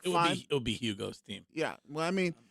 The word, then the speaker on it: Hugo: It would be Hugo's team. Yeah. Well, I mean, I think, see, the thing. Hugo, Greg, the H is silent.